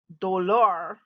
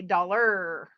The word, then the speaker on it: dollar: hard sound like er you would say dolor we say dollar er if you in your english every time a word ends in r you start saying it hard er like tiger er dollar everyone will he understand